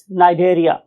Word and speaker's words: Cnidaria: लोग इसे सनरिया और कनेरिया नहीं बोलेंगे बल्कि हम इस सी को नहीं बोलेंगे और फाइलम का नाम यहां से बोलना शुरू करेंगे सो फाइलम इ नारिया इट इ नॉट डेरिया इट नारिया और अगर आप लोग